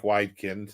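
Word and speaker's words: Wedekind: by uh what's his name widin uh Frank widin that's the pronunciation Earth Spirit 1895 and Pandora's Box 1904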